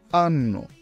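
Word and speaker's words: hanno: উচ্চারণ হয় জেলাতু জেলাতু আক্কা এই অক্ষরটি ইতালিয়ান ভাষায় নীরব থাকে কোন শব্দ উচ্চারণ করে না উদাহরণ আন্ আন্ন ই উচ্চারণ বাংলার ই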